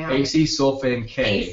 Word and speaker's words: acesulfame K: So we have a few mentioned here, sucralose #1, aspartame, and can you pronounce that one for me? Acesulfame K.